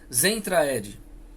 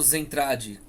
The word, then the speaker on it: Zentraedi: veio da raça chamada zentraedi né ou semtrad Bom depende da pronúncia de cada país que acabou de nossa